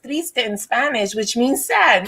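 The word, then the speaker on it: triste: think about thank you thank you for it's pronounced Trista in Spanish which means sad look at action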